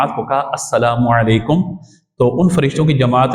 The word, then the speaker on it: السلام علیکم: بھی عطا فرماتا ہے۔ یہاں پہ تلفظ درست ہونا چاہیے، السلام علیکم، سائکم نہیں، یہ کوئی لفظ نہیں ہے، سائکم سائکم وعلیکم یہ بھی کوئی نہیں ہے، تو السلام علیکم اور